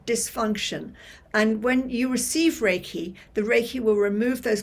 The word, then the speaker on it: Reiki: what is Reiki so raiki as I said pronounced raiki it's originally from Tibet but it was rediscovered